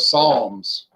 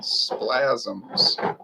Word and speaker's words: psalms: some people have bizarre like the book of psalms i've heard people pronounce it splasms splasms that's not even a correct phonetic you